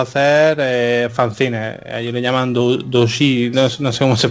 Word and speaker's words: doujinshi: Ellos le llaman doujinshi, no sé cómo se pronuncia.